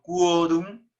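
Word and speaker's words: quorum: de reunión no quórum entonces se pronuncia todo por ejemplo quórum uy uy no esquí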